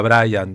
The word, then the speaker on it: Brian: la cuenta, Brian Chambuleirón, pronuncio Brian Chambuleirón porque en francés es Brian, ¿no? Exacto. En inglés sería Brian, digo, por cualquiera que se asome recién aquí. O en la Argentina se puede decir Brian también.